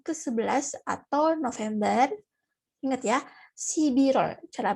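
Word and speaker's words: 십일월: Ingat ya, Sibirol cara bacanya.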